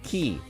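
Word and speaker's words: Kingdom Hearts χ: game called Kingdom Hearts ki the X is Roman I think our Greek and pronounced key nifty which came to America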